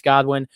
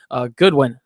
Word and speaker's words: Goodwin: mooney demir byrd marquis godwin goodwin i always say godwin goodwin i've got to